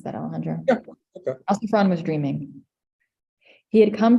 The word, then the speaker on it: Alciphron: Alciphron, is that, how would I pronounce that, Alejandro? Yeah, okay. Alciphron was dreaming.